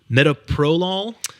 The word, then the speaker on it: metoprolol: Metoprolol?